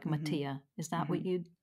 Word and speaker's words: Mattia: It's actually an Italian name, and it's Ah. not one that people are used to. And I don't pronounce it in the Italian way, right? I don't say it like with an Italian accent or anything, but Ah, so would the stress be on, is it Mattia? Would that be the Italian version?